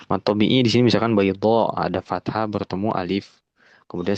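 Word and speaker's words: بيضاء: Nah, berarti ya, kalau masukin hukum tajwid di sini bacanya 5 harokat ya karena mad wajib baydha'u begitu. Itu yang dinamakan alif mamdudah, alif yang dibaca panjang.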